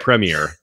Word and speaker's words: Premier: can't wait to hear the American pronunciations of what I say Premiere gu premere yeah so there we go premere yeah we're gonna do this the EXC Colonial way it's Premiere exactly so um anyway Shane